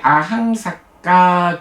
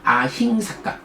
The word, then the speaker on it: 아힝사까: 네, 오늘 우리 아항삭가 경, 아항이 아니고 아힝입니다. 아힝삭가, 제가 잘못 읽었네요. 좀 밑에서 제가 그 오타가 있어서 아항삭가라고 발음을 했는데 아닙니다. 아힝삭가입니다.